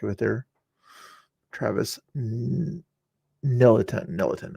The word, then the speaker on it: Nelan: Nelan is how you pronounce his name.